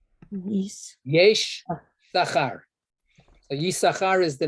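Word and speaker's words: יששכר: The first two letters become Yud, Shin instead of Sin.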